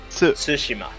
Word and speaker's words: Tsushima: It's literally Tsushima, spelled right? T Like with sushi and then Tsushima. ma at the end. I don't know. Tsushima.